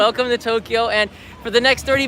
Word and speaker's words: Tokyo: it's really set pronounced Tokyo Tokyo Tokyo yeah two syllables there you go so here list your